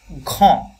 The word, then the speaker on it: grand: avec, AVEC, avec un grand, GRAN, তাহলে grand, D silent, grand jardin, jardin, notre quartier, quartier।